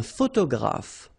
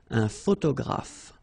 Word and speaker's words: photographe: So here ph and here ph. Pronounce it like f, f, f, f. Photographe. Okay. Same thing here. This you don't insist on it. You only pronounce this f at the end.